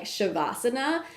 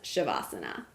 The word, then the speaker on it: Savasana: of this video but the pronunciation of this word is more like shavasana this spelling right here